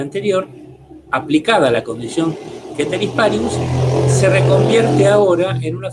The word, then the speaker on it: ceteris paribus: El profesor de latín de la facultad me dijo que yo decía ceteris paribus, él dice que en realidad se pronuncia ceteris paribus, él sabe más latín que yo.